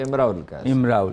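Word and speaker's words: امرؤ القيس: نامور عربی شاعر ہیں۔ امراء القیس، عرب کہتے ہیں کہ تلفظ جو ہے امراء القیس۔ اچھا، تو وہ اپنا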